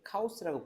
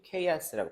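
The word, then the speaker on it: chaos: 그래서 카오스라고 부르는이 상태 이게 케아스라고 발음 영어 발음으로는 케아스라고 발음하거든요.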